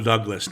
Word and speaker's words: Douglas: Michael Douglas, not Douglas. Where do you get Douglas from? That's a correct pronunciation, Ciaran.